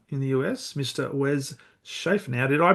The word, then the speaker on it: Schaeffer: Wes Schaeffer. Now, did I pronounce that surname correctly, Wes?